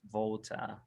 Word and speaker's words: Walter: got it here so my name is actually pronounced volta volta okay yeah walter walter